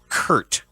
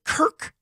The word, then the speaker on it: Kirk: own point guard right he always called Kirk Heinrich Kurt and he would hit that t hard yeah because a party